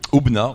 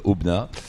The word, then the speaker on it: Aubenas: Ici, alors, on est à Aubenas. On dit pas le S, hein. Non, ça s'écrit avec un S, c'est comme Paris. Et Aubenas.